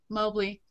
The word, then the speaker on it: Mobley: And I'm like, Mobley. My dad always said, pick the opposite of what everybody else said. All right, so I am interviewing Mobley today.